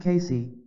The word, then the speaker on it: Cayce: discussed in part three Casey pronounced Casey had The Uncanny ability